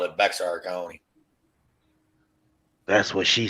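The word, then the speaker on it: Bexar: fuck they call it they call Bear County but they call it Bear County down here yeah I seen that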